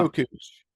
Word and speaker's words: Çöküş: Çöküş. Okay. And think like choke. Yeah. And remember those things from the 90s, koosh balls?